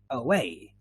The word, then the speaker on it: away: Yeah, and we find it here in syllables that are not stressed. So for example, away, away.